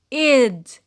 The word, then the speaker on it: -ed: The past tense has an extra syllable, and ed is pronounced what? Is pronounced id. Id. Short e, de.